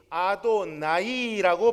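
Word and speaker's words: אֲדֹנָי: 그런데 오늘날 구약 히브리어 성경의 표준이라고 할 수 있는 마소라 본문에는 이것을 굳이 아도나이라고 발음하도록 표기해 두었습니다.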